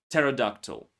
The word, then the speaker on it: pterodactyl: Also in Greek medical prefixes like pneumonia, pneumatic and in irregular words like raspberry, receipt, pterodactyl.